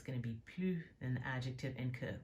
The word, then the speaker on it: plus: we're going to use plus before the adjective and que after. The S is silent here.